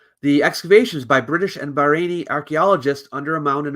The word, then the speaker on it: Bahrain: Church in Bahrain uh Bahrain is pronounced like rain were right ah good